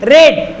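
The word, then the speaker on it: read: रेड, यहाँ पे रीड को रेड पढ़ा जाता है, बट स्पेलिंग जो होती है वो सेम होती है, इसलिए यहाँ पे वर्ब की थर्ड फॉर्म लगती है, दैट इज द रेड।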